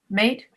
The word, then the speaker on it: mate: My roommate, mate, Made.